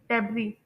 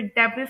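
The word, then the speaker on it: debris: बस ये है कि इसमें जो एस लेटर है वो साइलेंट होगा, ठीक है, लोग इसे डेब्रिस प्रोनाउंस करते हैं लेकिन वो बिल्कुल रॉन्ग प्रोनाउंसिएशन है।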